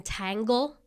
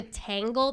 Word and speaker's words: Taglé: But I've had terrible pronunciations throughout my life when there's not even like, there's been tangle. Yeah. Yeah. de Taglé. There's no N there, so I don't know where they get that.